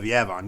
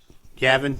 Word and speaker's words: Yavin: You're thinking of Yavon. Yavon 4 is a moon. Gotcha. Yep. Okay, yeah, that's it. Yeah. Did you say Yabon? Yavon. Is that Yavon how 4? it's pronounced? Yavin.